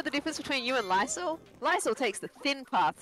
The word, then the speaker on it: Lycel: Lexi MD, 20 buckaroonies on behalf of my number one favourite Australian, Lycel. That's the way of pronouncing it.